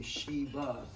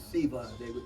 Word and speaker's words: Shiva: He told me it's pronounced with a C, like Siva. Siva. Most of us in America, we say Shiva with an S, but it's Siva.